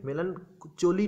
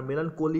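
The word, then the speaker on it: melancholy: কি রয়েছে মেলান কালিক মেলান চলি নয় আর মেলান কলি নয় ওকে মেলানকালি উচ্চারণটা মেলানকালি হবে সিএচ ও এল ওয়াই বেদনাময়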